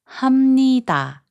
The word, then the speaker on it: 합니다: When the final consonant 비읍 is placed before 니은 or 미음, its sound changes to 미음.